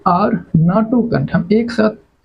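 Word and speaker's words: NATO: अन अ तो N unidentified flying object there we आर नाटो country हम एक साथ उच्चारण कर रहे हैं एज ए वर्ड नाटो क्या बोले नाटो कंट्री नाटो एक साथ उच्चारण कर रहे हैं ना क्या है ना वी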